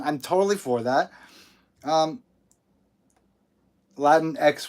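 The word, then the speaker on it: Latinx: totally for that um latin x would be the correct way to say that uh oh dominique thorne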